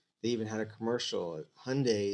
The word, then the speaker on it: Hyundai: Hyundai is just like Sunday. You pronounce it the same except for the H and the S.